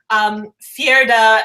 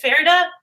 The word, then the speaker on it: Fjerda: Like we wouldn't know why like Fjerda and Ravka are like so like in war against each other and like how much how do you say it? Fjerda? Fjerda? Yeah, that sounds great.